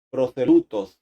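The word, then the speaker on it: προσήλυτος: En griego la palabra prosélito es proselutos, se pronuncia así, que significa convertido, uno que ha llegado al judaísmo.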